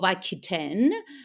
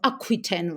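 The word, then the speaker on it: Aquitaine: Elenor of Aiten or Aquiten rather. I always tend to pronounce uh the French uh names the French way.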